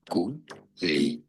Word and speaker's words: Guglielmo: Guglielmo. Guglielmo. Stress on the Guglielmo. L syllable.